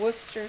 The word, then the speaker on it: Worcestershire: mother and a splash of worcestershire sauce or worcester sauce correct pronunciation and about a quarter